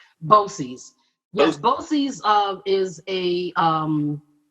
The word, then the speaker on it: BOCES: viewers what is what is a is it pronounced bosey boces yes boces uh is a um it's a an organization